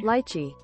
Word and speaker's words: lychee: Lychee. It's Lychee. Lychee. Aw, man, I've been pronouncing it wrong Lychee.